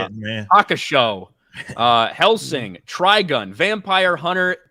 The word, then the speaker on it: Hakusho: Hakusho.